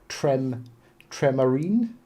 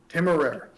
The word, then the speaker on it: Temeraire: If someone goes, "Oh, hey, Hive," on that video, which someone did today actually, I pronounced the Tremarine. Is that how you pronounce it? Temeraire. Temeraire.